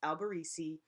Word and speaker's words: Alberisi: Nobody knows how to pronounce my name. It's Alberisi.